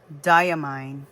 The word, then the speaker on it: Diamine: the brand name and they said it's diamine because it's supposed to be kind of like d aine d ye e a mine so that's why it's diamine so I'm like oh